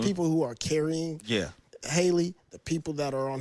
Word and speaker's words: Halle: with Haley and um Haley, right? I think Haley Holly I say Holly. Yeah, because she spell it that way.